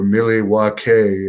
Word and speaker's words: Milwaukee: August 25th, the AEW tapings in Milwaukee. or Milwaukee, as they said in Wayne's World, is the proper way that the Indians used to pronounce it.